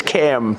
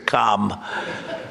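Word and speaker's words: Kamla: But I said, "Is this the same pronunciation?" No, sir, it's a little different. It's Cam. What? Cam as opposed to Com.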